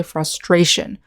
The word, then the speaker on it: frustration: in the word family in the noun we say frustration with the syllable stress on the second syllable with the verb adjectives